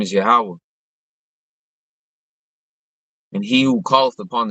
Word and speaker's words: Yahweh: There's no J's in Hebrew. It's not Jehovah. It's Yahweh.